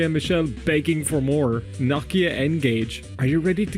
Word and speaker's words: Nokia: Yes, that's how we Irish people pronounce Nokia. We pronounce it Nokia, which is actually the right way to pronounce it because the Irish are always right.